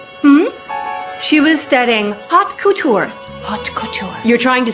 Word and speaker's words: haute couture: She was studying haute couture.